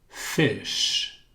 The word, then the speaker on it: fish: Esse SH, fish, fish. Como se fosse o CH de, por exemplo, China. Tim said.